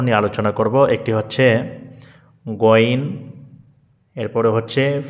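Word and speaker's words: غين: একটু শুদ্ধতা যাচাই করি তাহলে এটি গাইন এটি শুদ্ধ নয় এটি বলা যাবে না তাহলে শুদ্ধ উচ্চারণ হচ্ছে গইন কি হবে একটু প্র্যাকটিস করুন শুদ্ধ উচ্চারণ কি গইন এরপরে ফা এটি নিয়ে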